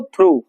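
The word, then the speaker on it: through: होगा बताइए थ्रू होगा थ्रू का स्पेलिंग बता देंगे इतना देखिए लेटर इसमें बहुत सारा है लेकिन पढ़ते हैं इसको थ्रू क्या पढ़ेंगे थ थ्रू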